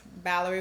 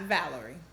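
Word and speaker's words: Balerie: Valerie that's b-a-l-e-r-i-e-b-y-a-r-s Valerie with a B not Valerie I'm 35 years old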